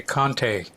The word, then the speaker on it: Conte: say your last name I guess it depends on what country you're in if you're in the United States you say Conte what other country would